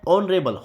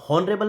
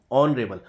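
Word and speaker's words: honourable: ही इज़ एन ऑनरेबल, हॉनरेबल नहीं ऑनरेबल, तो ओ का साउंड है जो कि वोवल साउंड है, इसलिए हमने एन का यूज़ किया है।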